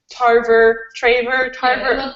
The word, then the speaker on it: Tarver: in the book, and Tarver. Yeah, People are asking us why we have such a hard time pronouncing his name. Because we're not perfect. Just saying. It's Trevor. It's Tarver. Right? It's Tarver.